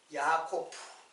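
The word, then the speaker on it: יעקב: 이름이 이제 이제 그 야곱이라는 말은 히브리 말로는 어 그 야코프 히브리 히브리 발음으로는 야코프 그래요 야코프 야코프 근데 야코프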